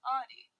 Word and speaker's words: Audie: Like, obviously, it's a reference to the show, but because my name sounds like audio, but there's not actually an O in it.